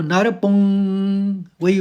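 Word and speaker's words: नरपुंगवः: तो मैंने नियम बताया था जब विराम हो तो ह में ह पढ़ा जाएगा। जैसे नर पुंगवः पुंग मैंने क ख ग अंग की मात्रा है ये तो नर पुंग वही जैसा उच्चारण है वैसे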